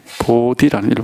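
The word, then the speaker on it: बोधि: 보리라는 말은 이게 우리 말이 아니고, 중국말도 아니고, 인도 말입니다. 보디라는 인도 말이죠. 그걸 이제 중국말로 적다 보니까 발음이 보리가 됐는데, 보디죠. 원래 인도 발음으로.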